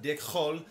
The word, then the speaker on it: DIKHÖL: i wanted uh we better got this movie pronounced dick hole to hole it is dick hole all right